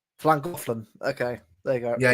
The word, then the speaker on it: Llangollen: Right, Llangollen. Llangollen. Okay, there you go. Yeah, you've got to have a proper lisp when you say it.